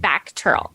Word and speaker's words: VACTERL: well you were born with is it pronounced vateral or how do you pronounce that it's pronounced back Turtle okay I'm missing the C that's why okay